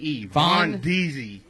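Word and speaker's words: Von'Deeze: Von Deezy.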